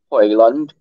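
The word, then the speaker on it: Højlund: And this guy, I believe the G in Dutch is pronounced as a Y, so it's supposed to be Hoyland as the proper pronunciation for the striker.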